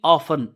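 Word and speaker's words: often: ही सल्लल्लाह वसल्लम would frequently REET REET frequently ऑफन ओ एफ टी ई एन ऑफन टी इसमें silent पढ़ते हैं तो ही फ्रीक्वेंटली रीट्रीट आप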